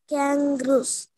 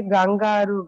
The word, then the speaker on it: kangaroos: Kangaroos. Very good. Super excellent. So the answer is kangaroos. So don't say gangaroo. Gangaroo is of Tamil word. In English, we used to say kangaroos.